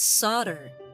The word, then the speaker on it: solder: yeah here are Bahamut it's pronounced solder okay soldering I know what soldering is but I I never figured that the El was silent on that sorry okay let's uh